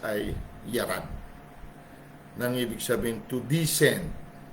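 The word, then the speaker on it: יָרַד: Sa Hebrew, nakasulat po o pagkabigkas ay yarad.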